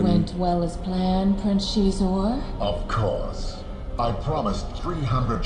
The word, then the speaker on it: Xizor: It does touch upon some very went well as planned, Prince Xizor? Of course. I promised 300 ships. Xizor, that's how you pronounce that name. I've always said Xizor.